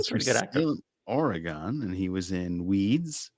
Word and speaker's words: Oregon: Salem, Oregon, and he was in Weeds, How did you pronounce my state? Oregon. Yeah, there you go. You said Oregon. Oregon, yes, East Coasters always do that. Oregon. It's like a gun.